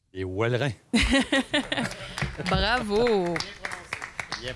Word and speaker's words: Ouelrins: Faut bien que je le prononce. Les Wellerins.